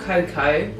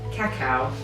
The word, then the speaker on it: cacao: organic raw cacao and no it's not cocoa and it is pronounced cacao just in case that